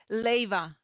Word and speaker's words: Leyva: Leyva.